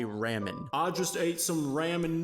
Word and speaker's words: ramen: In terms of pronunciation though, the letter A is pronounced ah in Japanese. That's why you don't say ramen.